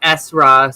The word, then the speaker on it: Esra: saying it wrong, but it's just Esra, so it's just like my nickname.